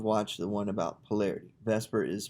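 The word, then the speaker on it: VSEPR: need to have watched the one about polarity vesper is pronounced is vscpr now uh we're going to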